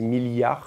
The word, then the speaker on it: milliards: Normalement, on dit milliards avec deux L. Moi, je dis milliards.